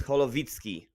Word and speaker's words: Holowicki: And Holowiki. I mean, the pronunciation of your name it's Holowicki, basically.